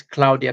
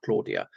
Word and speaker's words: Claudia: It is pronounced Claudia, not Claudia.